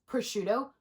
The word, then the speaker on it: prosciutto: uh prosciutto also did you know that it's pronounced prosciutto because I didn't know that I always thought